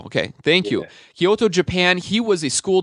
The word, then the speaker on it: Kyoto: Kyoto Japan is that correct is he is pronounced Kyoto Kyoto okay thank you Kyoto Japan he was a school teacher in LA